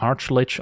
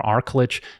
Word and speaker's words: Archlich: condition when paired with Acererak, the Archlich or Archlich, depending on your preferred pronunciation.